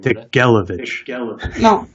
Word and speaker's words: Тигелевич: I think it's Degelovich. It's the stress is on the last but one syllable. On the third syllable. По два слова сказать? Degelovich.